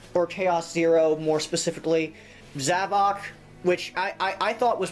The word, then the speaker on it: Zavok: It's Zavok. I thought it was Zavik. Like, Havoc. Zavik. Get it? Like, he causes... Zavik causes havoc. Heh. But, no, it's Zavok. I was just like, what? So I've been pronouncing it wrong this entire time? Apparently, Clement actually looked up the name, and yeah, it actually is Zavok.